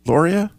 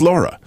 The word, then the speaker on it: Laura: me well that's fine is that how it's pronounced Lauria Lara oh it's just Laura okay Laura I ended amazing